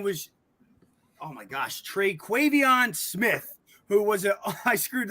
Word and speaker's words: Terquavion: Can you first nail the pronunciation of his first name, unlike I just butchered it? And then two, out of respect for him, and then two, how did you feel he fared? Because he played pretty well. It's Terquavion Smith, and his shooting percentages were terrible.